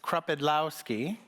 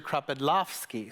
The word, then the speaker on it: Kropidlowski: It's pretty much phonetic, except when you're in the US, it's Kropidlowski. And then when I come over here, they say Mr. Kropidlowski. So somewhere there's an F and some different pronunciation in there. I still don't know how to do it correctly, so I just go with the US version.